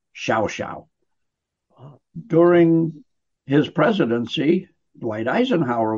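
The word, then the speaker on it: Llao Llao: incredibly upscale resort called shouse it's spelled l-l-a-o-l-l-a-o but down there in their Castellano Spanish it's pronounced Xiao Xiao during his presidency Dwight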